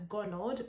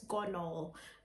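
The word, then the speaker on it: Gonal-f: injections and um the main injection is called gonol in my previous sorry about that but in my previous video i might pronounce it as gonord but it's gone all uh g-o-a-a-g-o-n-a-l gonna f uh it's a type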